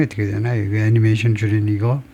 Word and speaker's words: anime: 애니메 아니고 애니메이라고 발음하네요. 애니메. 일본식 발음은 아니메고 아니메, 영어로는 애니메이. 애니메이라고 발음한다 이거네요. 애니메이. 애니메이가 맞네요. 애니메이. 예, 그것이 일본 영어식 발음이 애니메이네요.